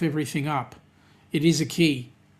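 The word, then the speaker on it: Cay: Key, it's pronounced K. No, it's not. You Americans stuff everything up. It is a key. As in Denise is going key, not K.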